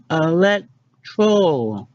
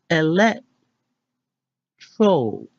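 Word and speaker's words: electoral: savings time three Elektro what we've been saying is let's troll how to actually say it is Alette troll your least favorite word of 2016 has the emphasis on the second syllable perfect to know for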